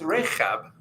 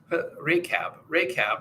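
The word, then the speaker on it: Ῥαχάβ: And there's the key in the middle of her name. So it's Rechab. Rechab. That's how the Greeks would say her name.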